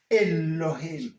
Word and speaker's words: Elohim: Donc ici, vous prononcez Elohim. Elohim.